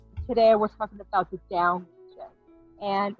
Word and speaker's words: Dão: see um and you you pronounce it like down up down um it's about 30